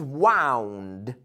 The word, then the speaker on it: wound: But the pronunciation is wound. Wound. So remember, the present, wind, and then wound.